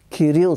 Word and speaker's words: Кирил: бяха вързали дядо ми за ръцете отзад и ние го чухме как вика Кирил с това ударение Кирил, Кирил, предай се заради